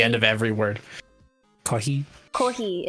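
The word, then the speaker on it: コーヒー: Kohi is how you say coffee, so you were kind of close.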